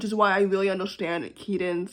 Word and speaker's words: Kidan: I've learned that her name was pronounced Keaton because I tweeted just now how to pronounce